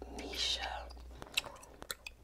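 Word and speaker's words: Knisha: My name is Nisha, but it's spelled with a K. And the K is silent, like night. Like a night. Like nighttime. Like a medieval time night. Or like the word need.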